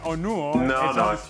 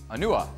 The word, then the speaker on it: Onuoha: forget n him but you mispronounced his his last name though I did you did he I'm just saying it na help me out here you you went onu it's onu onua I need you to